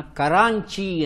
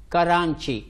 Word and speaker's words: ಕರಾಂಚಿ: ರಾಜವಂಶದವರು ಈ ಒಂದು ಪ್ರದೇಶವನ್ನ ಕರಾಂಚಿ ಅಂತ ಕರೀತಾರೆ ಕರಾಂಚಿ ಅನುಸ್ವಾರ ಬರುತ್ತೆ ಕರಾಂಚಿ ಅಂತ ಆದರೆ ಬ್ರಿಟಿಷರಿಗೆ ಈ ಅನುಸ್ವಾರವನ್ನು ಉಚ್ಚಾರ ಮಾಡೋಕೆ ಬರೋದಿಲ್ಲ ಹಾಗಾಗಿ ಕರಾಂಚಿ ಅನ್ನೋ ಮೂಲ ಹೆಸರನ್ನ ಕರಾಚಿ ಅಂತ ಕರೆಯೋಕೆ ಶುರು ಮಾಡ್ತಾರೆ ಅದೇ ಹೆಸರೇ ಇವತ್ತಿನವರೆಗೂ ಸಹ